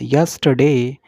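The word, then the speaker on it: yesterday: इसका उच्चारण प्रनंसीएशन होगी सही यस टी दे आर हल्का सा साइलेंट होगा यस्टरडे heavy basket okay Hindi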